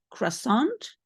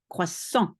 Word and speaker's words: croissant: a croissant a croissant one of those nasal sounds croissant don't say the ending don't say croissant there's nothing at the end croissant good next question so